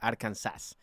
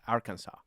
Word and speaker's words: Arkansas: it's kind of like saying like like in arkansas which is all right but yeah in spanish if you put if you s it would be arkansas which that's not how it is it's arkansas okay we can further this discussion later oh